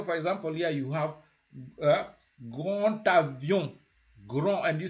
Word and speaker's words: grand avion: When the D meets a vowel, when you're doing that connection, the D never sounds like a D. You can never say grand avion. You say grand avion. Yeah? That's how you say it. Grand avion. You don't say grand avion. It's grand avion.